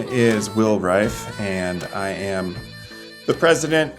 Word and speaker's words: Reif: my last name is Refe or Reef. Uh but it is pronounced pronounced rife.